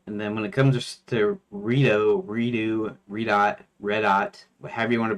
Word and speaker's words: Redot: How could pronounce it as redot, as in regeneration, and dot as in dot com. Now the way I say it is redot as in red dot, which is the correct one.